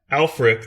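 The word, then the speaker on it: Ælfric: who alfred is for our for our listeners alfric that's spelled ash lfric is was a preacher in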